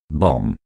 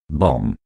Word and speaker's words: bomb: the pronunciation of the last letter b in this word is often considered obligatory by non-natives and they think they